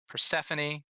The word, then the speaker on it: Persephone: Persephone, Glaze, Magma, Gunther, Horn, and Escapa. Escapa was Escapa. Gunther is Gunthar. Glaze, Magma, and Horn all spelled like they sound like, and Persephone just like the deity.